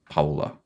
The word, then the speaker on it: Paola: like Paolo, but Paola.